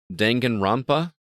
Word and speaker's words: Danganronpa: Alyssa, Danganronpa S, Ultimate Summer Camp, PS4, PC, iOS, Android, July 21st. Did I pronounce that correctly? I usually say Danganronpa, but I've heard different pronunciations for this, so.